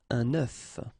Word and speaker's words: œuf: if you listen carefully, the pronunciation is changing quite much, because for the singular form it's œuf, but then for the plural form here it's œufs, okay?